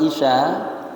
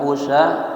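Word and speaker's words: عشاء: basilin kalimat Isya salat Isya ya itu ainnya dibaca kasrah Isya bukan usya bukan Asya kalau Asya makan malamhat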